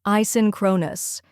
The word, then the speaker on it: asynchronous: First, we have I, where it sounds like the A in say, then sin, where it sounds like sin in sinner, next crow, which rhymes with row, finally nus, where nus sounds like nus in bonus.